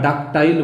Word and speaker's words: ductile: এরপর আমরা আসছি যেটা আপাতত লাস্ট, আমাদের যতগুলো আমরা ভাগ করেছি তার মধ্যে লাস্ট, সেটা হচ্ছে ডাকটিল মেটেরিয়াল বা প্রসার্যশীল বস্তু, বা ডাকটাইল বলে অনেকে উচ্চারণে।